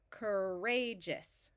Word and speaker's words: courageous: the root of Courage ouu usually says ow but in this word when combined with the r it says R so we're going to add